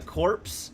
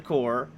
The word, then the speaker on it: corps: things in this game wrong they call it the corpse instead of the core the genry instead of